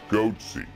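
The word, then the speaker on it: Goatse: p picture they're called goaty security is that my pronouncing that correctly yeah that's right we're analyzing coverage from Bloomberg goaty the register and fors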